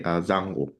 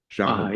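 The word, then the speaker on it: giang hồ: It's pronounced slightly differently, Zhanghu. Zhanghu.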